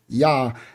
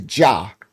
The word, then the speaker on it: Yah: Some of y'all y'all see it'll say jah in a J. But there was no J in Hebrew.